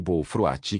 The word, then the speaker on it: bof: dois estranhos doces chamados bof cose além de fatias de pão branco nota do autor bof é pronunciado b frate e cos é pronunciado coal saai o coco era grosso e